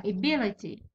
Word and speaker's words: ability: ايفولوشن، ابيليتي، اي بي لي تي، ابيليتي هذا هو الثاني، البي هذا اللي فيه الشده هو الثاني، so it's in the second syllable نحطوها ability. construct، construct راهي في الثاني، ها هو الثاني، هذا الاول وهذا الثاني، اذا نحطوها هنا construct.